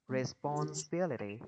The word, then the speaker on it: responsibility: Thì cái âm này mình sẽ nhấn cái âm thứ hai đúng không? Responsibility.